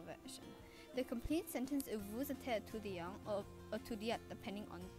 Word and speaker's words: vous: Take note that vous is pronounced differently as to how it was stated earlier, because the word after vous starts with a vowel, so the S sound at the end of vous is heard.